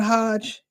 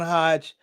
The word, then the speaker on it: Hajj: Was it Girls Gone Hodge? Sister, did I say that right? Did I say it right? Girls gone Hajj.